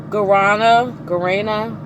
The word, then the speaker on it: guarana: strawberry lemon mint with guarana. Let's see how to pronounce that. Hold on. Because I saw that in something else before and I could never pronounce it. Guarana. So I said it right.